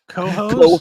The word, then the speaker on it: Cohoes: Yeah, it's spelled COHOES, like hose. Cohost?